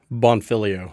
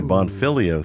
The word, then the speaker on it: Bonfiglio: I'm saying it right bonfilio bonfilio okay the g is silent silent G okay bonfilio thank you for that